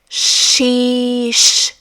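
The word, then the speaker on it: xis: Then we have X, which in Portuguese is pronounced as she sees she. Notice how the beginning and the end of the name of the letter X have this shh sound. Sheish.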